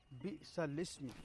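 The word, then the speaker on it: بئس الاسم: बिसल इस्म, कुरान करीम में आता है बिसल इस्म, बिसल इस्मी है, लिखा हुआ तो ऐसा है जैसे बिसल इस्मी हो, लेकिन बिसल इस्मी है। बिसल इस्म।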